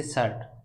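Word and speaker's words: shirt: यहाँ पर रे साइलेंट रहता है, लेकिन हल्का सा लगता है कि रे का साउंड आ रहा है अर, जैसे शर्ट, तो इसका आंसर होगा ऑप्शन ए शर्ट।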